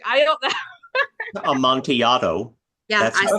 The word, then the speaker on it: Amontillado: Amontillado.